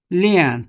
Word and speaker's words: Lian: Lian in Hmong is known as Lane. Lian is a Mandarin pronunciation, but Hmong call it Lane.